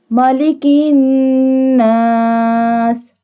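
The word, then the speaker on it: مَلِكِ النَّاسِ: Malikin nas. Here we doesn't bold the calf. This one calf will not be bold. We say it softly. And we do gunna on noon because noon has tashdid.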